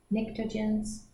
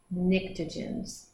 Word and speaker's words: pnictogens: We go over to 5A or 15, and they are the, do you think the P is silent? Pnictogens? I think so. Pnictogens.